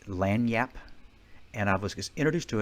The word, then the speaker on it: lagniappe: about that little extra, I think the pronunciation is lagniappe, and I was introduced to it at a French restaurant.